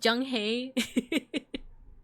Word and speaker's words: Zheng He: It's pronounced Zheng He.